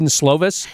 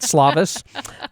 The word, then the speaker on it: Slovis: how to pronounce Ken slovis it's slovis not slavis uh other things uh